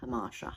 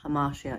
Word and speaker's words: hamartia: I don't want to be so possessed by hubris that I cannot see my hamartia. Hamartia is, or hamartia, depending on how you pronounce it, is the tragic hero's fatal flaw.